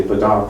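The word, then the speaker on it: padauk: PUK shavings you know I'm never 100% sure that I'm saying it correctly when I say paduk I people say padak and padak and I think paduk is right isn't it so doesn't really matter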